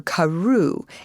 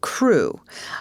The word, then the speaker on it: Crewe: difference in the name Madame Pascal pronounced it as if it were Karu instead of crew but that might be